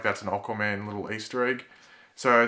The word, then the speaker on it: Aquaman: in the Arrowverse, or Aquaman? People always get after me because I say Aquaman. It's just how I pronounce it. Like, I know other people that say Aqua instead of Aqua. Deal with it.